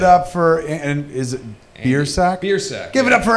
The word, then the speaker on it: Biersack: It's got to be like it's phonetically like it's Biersack. It's the worst possible way to pronounce it. I went to Catholic school and they didn't want to pronounce it correctly, so they told me my name was Biersack growing up.